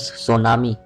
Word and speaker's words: سونامی: Earthquake جیسی وجہ سے۔ لفظ سونامی تلفظ سو نا می سے مل کر بنا ہے۔ جاپانی الفاظ سو جس